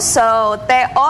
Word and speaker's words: soto: Bener kan, SO so, TO sebenarnya two, tapi karena beberapa ya peraturan bahasa jadi soto. Soto.